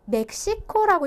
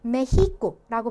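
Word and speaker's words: México: 그다음에 이 멕시코라고 읽어야 될 것 같은데 스페인어권에서는 메히코라고 발음을 해주셔야 돼요. 그래서 히읗 발음처럼 나는 엑기스도 있고요.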